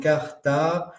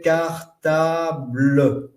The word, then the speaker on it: cartable: Alors là, vous voyez, par exemple, cartable. La syllabique classique aurait fait cartable. OK? Cartable. Mais t'as pas oublié ton cartable? Vous avez entendu le E?